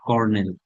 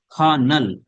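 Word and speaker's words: colonel: দেখেন আমরা কর্নেল শব্দটা ইউজ করি, কর্নেল খুব বেশি। দেখেন এটাকে আমি দেখলাম যে এটা আসলে কর্নেল। খা, খ, সির উচ্চারণ খ, খা, খানাল, খানাল।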